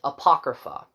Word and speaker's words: Apocrypha: that okay and the name of this is Apocrypha um and I actually googled it to pronounce it right and basically what it means